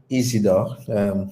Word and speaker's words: Isidor: for today yeah so my name is isidor that's how it's pronounced actually and then the